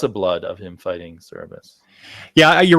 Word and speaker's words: Cerberus: I usually pronounce it Cerberus, but I'm probably wrong about it. That's right. That's how you do it.